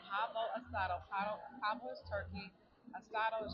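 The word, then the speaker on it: pavo asado: So, um, I just ordered the pavo a I want to make sure I say it right. It is the pabo asado.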